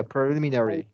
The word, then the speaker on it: preliminary: Okay, you gotta be short A. Short sorry. E. Short A. Yeah, preliminary. Okay.